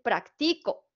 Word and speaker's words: práctico: diferente práctico práctico que práctico es una palabra muy interesante porque puede tener el acento prosódico en cualquiera de sus tres sílabas y donde lo lleve va a tener un significado diferente lo han notado en este caso aquí dice práctico porque tiene la sílaba tónica en pra Pero si yo se la